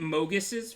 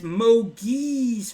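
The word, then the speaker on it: Mogis: They kept calling it Mogus' favor and it's Moiz favor.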